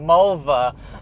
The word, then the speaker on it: Mulva: As long as it wasn't Mulva, I think they'd let it go. It rhymes with a female body part.